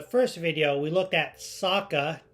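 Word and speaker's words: Sokka: kiyoshi Admiral Zhao and Saka who I called Soca the whole time in the last video I pronounced that wrong but with that being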